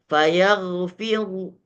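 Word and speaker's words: فيغفر: Cara bacanya, fayaghfiru, fayaghfiru. Jadi bukan fayaghfiru, ru, tidak. Fayaghfiru. Sama seperti kalau dengan cara jazam boleh. Fayaghfir, fayaghfir. Kalau diwakafkan dengan cara jazam maka dia menjadi tipis.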